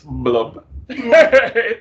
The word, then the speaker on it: Blub: So, first of all, maybe I should rename it Blob because everybody mispronounces it. It's Blub.